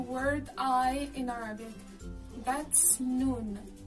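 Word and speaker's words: نون: i in arabic that's noon the noun is pronounced just like the english n pretty easy right it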